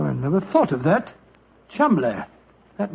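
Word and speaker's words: Cholmondeley: is in no way pronounced the way it is spelled. Oh, Joe, I never thought of that. Chuml.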